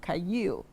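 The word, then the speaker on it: חַיִל: Okay, so the Greek word used there for the virtuous woman is a word pronounced kayil. Kayil. Wow. And kayil is a woman of strength.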